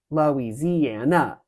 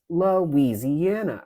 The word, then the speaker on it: Louisiana: it like um Louisiana it's not Lisa Lis lisana right it's lisiana right that first of all that's five sounds we don't want we don't want five syllables but um if you